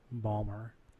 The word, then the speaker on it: Baltimore: It's like they would pronounce Baltimore. I would say Balmer. That's an accent? It just Yeah. sounds like they can't make words. Actually, that is kind of the accent. They drop consonants.